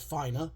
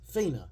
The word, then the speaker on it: Fina: sorry um but yeah not fin it's Fina but spelled f i n a get it right gungho and everybody else but oh well um because that's even how they pronounced it in the Japanese her name was Fina and it's not spelled with two e anyway um that's not